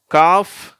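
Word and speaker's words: calf: உச்சரிப்பு வருது அப்படின்னு பார்ப்போம் காப் கல்ப் சரியா இங்க வந்து சைலென்ட் ஆயிடுது காப்ன்னு சொல்லும்போது வெறும் எ உச்சரிப்போட வந்துருது கல்ப்னும் போது அந்த இல் ரெண்டும்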